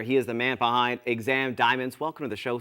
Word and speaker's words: !Xam: sure absolutely uh so exam daumans it's pronounced with a click say problem okay because